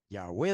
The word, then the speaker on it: Yahweh: Yahweh de los ejércitos. También puede pronunciar Yahvé.